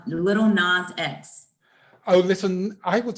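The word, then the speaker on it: Lil Nas X: little nausea yes little is it nas or not you say nas oh what do you say how do you say it n-a-s no it's it it's um little nas x oh listen i would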